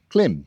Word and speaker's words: Klim: Um the other thing is they are climb clim for our American friends. Clim Marrakesh. That's how it's pronounced.